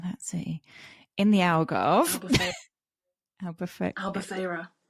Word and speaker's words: Albufeira: Albufeira. What she said. I'm like, Albufuria. My friend's like, that's not how you say it.